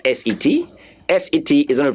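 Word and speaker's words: sept: there is silent a don't pronounce the P so pretend as if you don't see the P there and so the pronunciation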